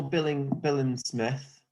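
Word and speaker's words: Billam-Smith: So I saw Billen Smith.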